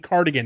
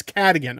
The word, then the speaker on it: Cadigan: known as Kelly cadigan I said it right this time because I kept saying cardigan it's cat again okay Kelly catechin AKA